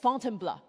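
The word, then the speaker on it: Fontainebleau: So after Paris, Paul took me just outside the city to a forest park for called Fontenbl. This is how he taught me to pronounce to try out our mountain filter.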